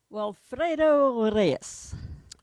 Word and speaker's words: Walfredo Reyes: Walfredo Reyes. That's really good. You can roll your R's. I can't roll the R's.